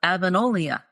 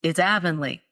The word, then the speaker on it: Avonlea: And I had it stuck in my head that Anne lived on the island of Avonlea off the coast of, Nova Scotia.